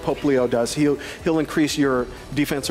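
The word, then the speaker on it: Popplio: So I still find it odd to see, how do you pronounce his name, Poplio? Poplio. Poplio.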